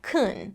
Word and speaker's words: can: So in a word like can, in fast speech, it actually sounds more like kun.